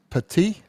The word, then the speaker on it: Petit: bit ad hoc okay that's nine for Mr Pati did I pronounce that correctly yes and what I know